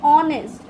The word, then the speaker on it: honest: Okay, so another one is an honest. So the h is silent, and the next sound that we produce is o.